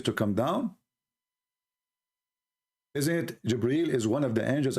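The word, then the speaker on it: جبريل: It's not Gabriel, by the way, it's Jibreel.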